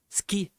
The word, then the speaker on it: ski: Olha como que difícil falar ski. Sen não fal ski. Ski em dois sílabas. É um síllabe. Ski é que nem sport.